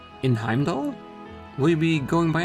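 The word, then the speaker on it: Heimdallr: just heard with rufus i learned that i do not need to pronounce the r in heimdall in heimdall will you be going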